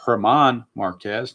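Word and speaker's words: Germán: The G is a silent G or a soft G. Not silent, but soft. It's German Marquez, number 48.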